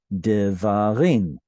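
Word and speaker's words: דברים: You add the im, this guy is too far away from the stressed syllable and therefore reduces to a shva, and you get devarim.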